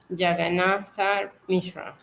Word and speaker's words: Jagannatha: Jagannatha Mishra.